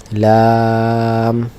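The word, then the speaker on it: لام: অক্ষরের নাম আমরা আগেই বলেছি যে অক্ষরের নাম আমরা যখন উচ্চারণ করব তখন অবশ্যই এটা টেনে বলতে হবে, আর যখন এটা কোনো সাইন দিয়ে উচ্চারণ হবে তখন সেটা কখনো টেনে কখনো আসতে হবে। যাই হোক, তো আমরা একটু টেনে বলি লাম।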